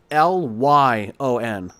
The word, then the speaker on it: Lyon: It's going to be spelled Lyon, almost like lion.